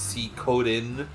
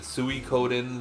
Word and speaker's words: Suikoden: rundown to um first off the game is pronounced C code in C code in sukodin um depends on who you ask there are people who pronounce it suicodin there are people who pronounce it sweet sweeten I think and then I've always called it